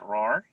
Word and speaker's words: Rohwer: name all right um my name is roar and it's spelled with one r and the last name is r-o-h-w-e-r and i'm a professor